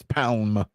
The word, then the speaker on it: Palm: The L is silent in her name. It's Palm.